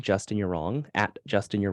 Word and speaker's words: Yurong: my Instagram and it's just my name Justin you're wrong at Justin you're wrong last name is spelled y-u-r-o-n-g for people just listening and then